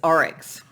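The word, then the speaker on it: oryx: path rabbit and Onyx I think that's how you pronounce that I'm a little bit unsure with the way that it's written so I just checked the book to say it's orex not Onyx I don't I've not seen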